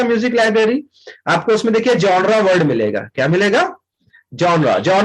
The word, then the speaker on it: genre: तो इसको बहुत से लोग जेनर पढ़ते हैं. क्या पढ़ते हैं? जेनर. बट इसका जो रियल प्रोनाउंसिएशन है वो है जॉनरा.